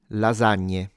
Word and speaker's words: lasagna: So according to standard rules that apply 80% of the times this should be pronounced like a z sound.